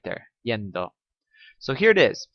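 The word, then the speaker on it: -iendo: add the ending yendo now you notice my pronunciation of this ie and espanol produces this sound yendo so when I say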